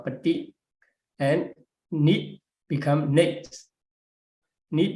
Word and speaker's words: paṭi: And so Paṭi, we have to pronounce Paṭi, and Nit become Nate.